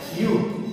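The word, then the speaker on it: ewe: लिखा हुआ है ना, यू। अब देखो स्पेलिंग क्या है, ई डब्ल्यू ई, ऐसा लग रहा है कि इसको पढ़ेंगे यू यू, तो लेकिन इसको यू नहीं पढ़ते, इसको सिर्फ पढ़ते हैं यू।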